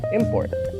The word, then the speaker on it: import: as a verb, while having the stress on the first syllable depicts the word as a noun. And here are some other examples. Import.